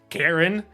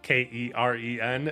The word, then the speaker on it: Keren: I had to actually like look up a bunch of sites and make sure it's not pronounced Karen, because it's actually Keren.